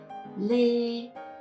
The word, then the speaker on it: Lê: The consonant here is l, just like the L in English. So together we got lê.